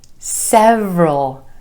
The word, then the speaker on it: several: none of your business number five several several not several two syllables emphasis on the vowel sound Anna in the first syllable several several hours it's already been several hours